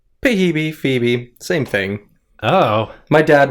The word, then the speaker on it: Phoebe: well known name pronounced pahibi yeah usually the the the p and the h make a different sound yeah they make an f sound but yeah like you'd